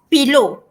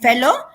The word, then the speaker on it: fellow: use the word fellow because some candidates they are uh wrongly pronounce it as pillow okay so total out